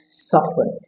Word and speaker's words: soften: Coming up next is often and soften. Should the letter T be pronounced in those words? As for soften, the letter T should always be dropped.